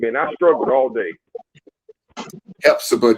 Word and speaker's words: Hephzibah: Hephzibah, just like in the Bible, Hephzibah.